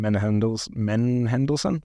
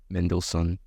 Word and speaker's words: Mendelsohn: You got Olivia Cook, Mark Rylance, not sure how you pronounce that. Ben Mendes, you said it earlier. How do you say it? Ben Mendelsohn, I think. Mendelsohn. I think it's Mendelsohn, whatever.